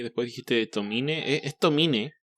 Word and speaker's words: Tomine: Beto, me intrigó porque dijiste Adrián Tomain y después dijiste Tomine. ¿Es Tomine? Según yo es Tomin, no pronuncia la E del final, pero hay quien dice Tomain, entonces a veces digo una por otra, pero según yo es Adrian Tomain.